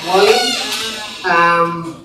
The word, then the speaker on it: Ouali: My name is Ouali. This is written like this, and you pronounce it like Wally.